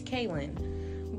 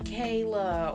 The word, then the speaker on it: Kaylyn: And my name is really easy. It's Kaylyn. But I would have people calling me Kayla or Caitlin, and like, you're taking the attendance.